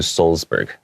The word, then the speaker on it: Salzburg: So here in American English, I would have pronounced that Salzburg. Salzburg. Okay, Salzburg. Yes, but the German pronunciation is closer to Salzburg.